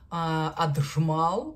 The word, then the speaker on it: Ajmal: это парфюмерная линейка дож аджмал как у нас говорят Мне нравится вариант Амаль он более аутентичный учитывая арабское произношение линейка or она достаточно